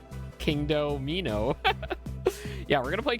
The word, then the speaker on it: Kingdomino: I pronounce it King doi doino. Doino. Why would it be doino? Yeah, it's And everyone was like, "It's King Domino." Yeah, it's King Domino because the pieces are like dominoes.